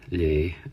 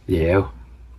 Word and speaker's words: Léaghadh: So Higla, Ekel and Shaw, you can see here they've lay to melt, which is different to what we say here in southwest Donegal. And even when you go to the Donegal pronunciation of it, the Ulster, lay, which obviously isn't what we say, Léaghadh, we say.